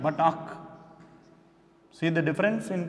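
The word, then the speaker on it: ܐܝܟ: Not Ike, but ak. See the difference in pronunciation. It is not Ike, but it is ak.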